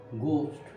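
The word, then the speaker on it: ghost: আমার বিশ্বাস করি না, ডু নট বিলিভ কি ইন গোস্ট, এটা কিন্তু উচ্চারণটা এইচের উচ্চারণটা হয় না।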